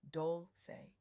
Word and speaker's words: Dolce: I'm your host, Dolce, pronounced doulce, like sweet softness whispered in French, and I'm your guide